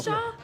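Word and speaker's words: Jamacha: Hamishaw?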